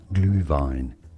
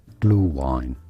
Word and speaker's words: Glühwein: For reference, in German it is said as Glühwein, Glühwein, with that U sound, a U with an umlaut on it normally. In English this is normally said as Glühwein, Glühwein, or Glühwein, Glühwein.